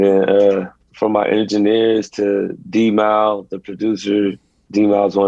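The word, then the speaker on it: D'Mile: Is that how you pronounce it, D-Mal? D-Mal, yeah.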